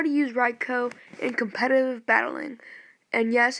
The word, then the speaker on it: Raikou: today we'll be talking about how to use raicho in competitive battling and yes it is pronounced Reiko I learned that the hard way he's my